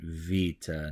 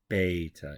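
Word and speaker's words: βήτα: we're gonna pronounce it Vita not beta it's Vita so the B in Greek is pronounced as a V sound now the G sound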